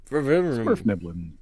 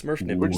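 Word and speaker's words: Svirfneblin: Smurf Niblin. Smurf Niblin. No, it's Smurf Nibbling. That's official. We're just going to call them deep gnomes, Yeah.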